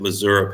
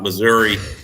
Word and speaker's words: Missouri: but Missouri has been please pronounce it Missouri people not Missouri um Missouri has been